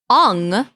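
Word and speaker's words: Aang: signature restaurant Hey look it's Ang or as the Americans say on but also the the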